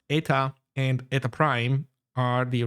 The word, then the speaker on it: eta: normal and this other weird Greek symbol pronounced eta and eta prime are the refractive indices.